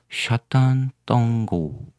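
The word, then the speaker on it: Sátántangó: 황가리어로 샤탄 똥고 이렇게 있습니다. S 발음은 시 발음 납니다. 샤탄.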